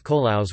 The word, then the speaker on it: colados: The most common method produces milcaos colados, strained milcaos, sometimes pronounced as the rhyming milcaos colaos with a silent d, as is common in Chilean Spanish.